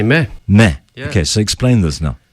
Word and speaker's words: Meh: about because it's spelt em eh but you pronounce and had you said well you just say meh meh okay so explain this now well it's a